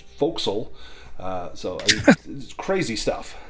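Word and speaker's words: forecastle: There's also for castle, which is pronounced folks.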